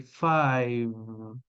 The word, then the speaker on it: five: O número 4 e o 5 geralmente as pessoas já pronunciam bem, é o four, repeat, four e five. Eles terminam no som de V.